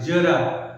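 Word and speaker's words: ज़रा: तो जो जरा है, देखिए इसको उच्चारण के रूप में लिखो जेड ए आर ए, जरा, ज मतलब नीचे बिंदी लगा।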